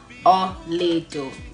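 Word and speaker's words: Olaedo: Ol'edo. Spelled it before. O-L-A-E-D-O. Pronounced Ol'edo.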